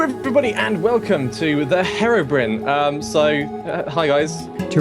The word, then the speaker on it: Herobrine: and welcome to the Herobrin um so hi guys to recall the storied history of Minecraft's first urban legend Herobrine some say Herobrine some say Herobrin and some even say Herobrine it's impossible to decipher who's